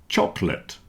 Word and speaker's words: chocolate: Comfortable, vegetables, and chocolate have lost their middle syllable, at least for most people.